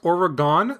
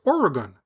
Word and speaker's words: Oregon: chime in and let us know how you pronounce it. Is it the incorrect Oregon that I was saying, or the correct Oregon?